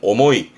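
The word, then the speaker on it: 重い: 말 그대로 무겁다라는 의미의 발음은 오모이. 오모이라는 건 뭐 말 그대로 무거운 걸 말하는 부분인데요.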